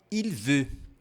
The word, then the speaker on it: il veut: A pronúncia é igual. Porém, a escrita é diferente.